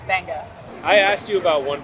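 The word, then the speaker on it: Beqa: design benga Lagoon Resort it's spelled weird it's b-e-q-a but in Fijian that's benga I asked you about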